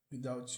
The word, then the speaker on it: without: E o som do TH aqui, que muita gente acha difícil de pronunciar, pode ser um pouco difícil mesmo no início. É só você colocar a língua entre os dentes e tentar fazer o som de V.